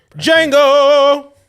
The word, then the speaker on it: Django: Jango, the D is silent.